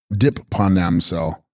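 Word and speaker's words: sGrib pa rnam sel: Text, Fyagna Ridorje, pronounced Chogna Dorje, bearing the Dorje in hand, Sanskrit Vajrapani, and text, Scrib Pa Ranamsel, pronounced Dip Panamsel, clear of obscurations, Sanskrit Dipani, also Dipika, Sanskrit Tib, hybrid of text, corresponding Tibetan Dri Chama, Sanskrit Ganda.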